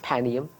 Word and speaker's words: Panium: Raphia and Panium or Panium, I say Panium, but I agree with you. Proper way to say it, Panium.